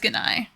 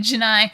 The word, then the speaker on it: Gennai: Digimon Emperor is Ganai or Janai or Yeah, Janai. However you want to pronounce it. It's It's a G. I don't understand why they say it Janai.